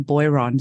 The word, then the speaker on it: Boiron: Now bo Now I'm just going to say uh we in Australia we would pronounce the company name Beron.